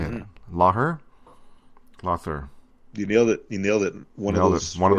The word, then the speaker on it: Lawther: Lawther.